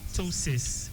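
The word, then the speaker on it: ptosis: Now for those who don't know it's P there's a P P T O S I Squire tosis just like last we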